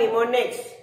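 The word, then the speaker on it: mnemonics: Difficult symbols, it's called निमोनिक्स। क्या हुआ, symbols और साइंस यूज होते हैं, जिसको हम क्या बोलते हैं, निमोनिक्स, निमोनिक्स। अब उसमें याद रखना है आपको, एम साइलेंट है बट इट्स कॉल्ड निमोनिक्स।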